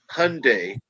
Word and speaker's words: Hyundai: salesman was like okay here's the easiest way to remember hyundai like sunday i said okay